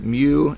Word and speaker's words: mu: pronounced well you can see it there it's pronounced mu that's that's what we're going to use for